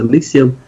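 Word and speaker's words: NXIVM: Nhưng mà khi đọc thì cái cách đọc của người Mỹ họ đọc là Nixium.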